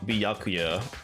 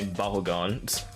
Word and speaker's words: Byakuya: Um, I know it's uh Byakuya, but I mispronounced I say Bahugan.